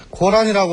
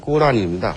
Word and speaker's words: 꾸란: 즉 코란이라고 하는 단어는 이게 영어식 발음입니다. 우리가 이쪽에 대한 지식을 이제 서구를 통해서 들어오다 보니까 코란이라고 발음을 했지만, 요즘에는 그 원어가 한국말로 발음이 되면 그대로 쓰는 경향이거든요. 그래서 이게 아랍어로는 꾸란입니다. 그래서 이 아랍어로 쓰게 되면은 꾸란 이렇게 씁니다. 꾸란.